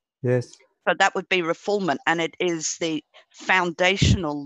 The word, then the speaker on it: refoulement: It's called refoulement. Looks like refoulement, but it's pronounced refoulement. And that means handing over an asylee to the persecutors after having granted political asylum. Yes. So that would be refoulement, and it is the foundational law of political